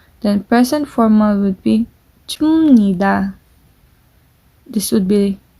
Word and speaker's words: 줍니다: Then present formal would be 줍니다. This would be pronounced p. This would be pronounced as m. 줍니다.